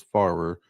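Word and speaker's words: Pfarrer: I think it's Farer. Farber. Yeah. Um, the P is silent.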